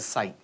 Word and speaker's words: psi: So this is called as a psi. Sorry. How to pronounce that one? P is silent.